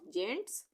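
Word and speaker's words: gents: उसी तरह से जी ई यहाँ पे आ गया तो जेंट्स, ज का उच्चारण हो रहा है।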